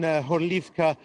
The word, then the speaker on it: Horlivka: Today I spent most of the day in Horlivka, according to its Ukrainian name, or Gorlovka, which is what all the residents of that city call it. That's the Russian pronunciation.